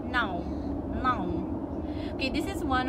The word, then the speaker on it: não: So like say now, you pronounce it as não, não. Like João.